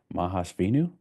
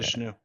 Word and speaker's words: Mahavishnu: Their musical taste, Frank Zappa, Harry Nilsson, The Beatles, and I never pronounced this right, but Mahasvinu Orchestra. I think I maybe I Mahavishnu.